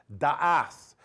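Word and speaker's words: דעת: Now, the word knowledge in this particular verse comes from the word pronounced da'ath, and it means discernment or spiritual understanding and perception.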